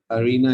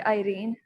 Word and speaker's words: Irene: Then we have Arina Iqbal. I think I have pronounced the name properly. It's actually Irene.